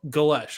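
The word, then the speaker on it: Golesh: Gales. Is it Galesh? Yeah, that's how I heard Eric Morris pronounce it. Glesh. Galesh.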